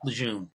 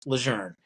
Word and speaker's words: Lejeune: Well, I actually spoke to the family, Okay, and they said, yeah, the French pronunciation is Lejeune, and I said, well, I don't speak French, I speak English, so yeah, no I parlez vous say français.